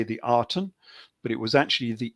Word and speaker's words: Aten: twist on that because it was spelt with the reed glyph, and that's pronounced with an E more than an A. So we normally say the Aten, but it was actually the Eton or the Eden.